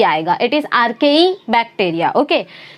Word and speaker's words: Archaebacteria: इट इज़ आर्केई बैक्टीरिया।